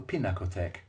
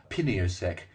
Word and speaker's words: Pinakothek: prefer to call the Pinakothek. We could never pronounce Pinakothek properly. We called it Piniosek, Pintaktek, and the Happy Tack.